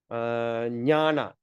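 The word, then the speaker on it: ज्ञान: So how are we going to pronounce that? Nya. So Sanjaya, Sanjaya. Okay, Jnana, Nya. Okay, it sounds like Nya.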